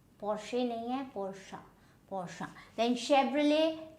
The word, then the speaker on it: Porsche: Porsche nahi hai, Porsche.